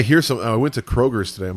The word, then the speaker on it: Kroger: Kroger brand. Oh, not Kroger's brand. No, it's not Kroger's.